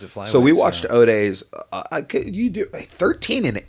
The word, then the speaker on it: Ode: So, we got uh how do you say Ode? I think it's OD.